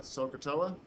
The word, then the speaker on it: SOHCAHTOA: So a mnemonic down the bottom for remembering these three ratios is SOHCAHTOA. Just have to be able to really pronounce it correctly, so that you really emphasize in the O part.